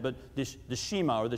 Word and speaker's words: Shema: This passage right here, Deuteronomy 6, 4, and 5, is known as the, I may mispronounce the accent, but the Shema, or the Shema.